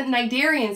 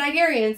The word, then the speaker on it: cnidarians: And just like the cnidarians that we talked about, the C is silent.